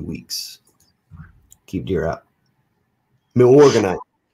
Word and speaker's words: Milorganite: Milorganite. That's it. What? Milorganite.